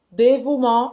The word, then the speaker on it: dévouement: Tá cheio de letra aqui, mas isso aqui tudo você vai pronunciar como se fosse um U. Simples assim, tá? Le dévouement. E o T no final não vai ser pronunciado.